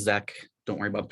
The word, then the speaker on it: Czech: Last name is Zek.